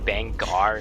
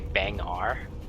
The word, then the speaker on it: Bangar: legion explosives come on didn't it just be bang r like bang r not bengal i don't know i think i heard it pronounced both ways so maybe maybe it's